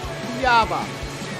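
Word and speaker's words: Cuiabá: I'm going to just figure out how to pronounce this place. 2 seconds. Cuyaba.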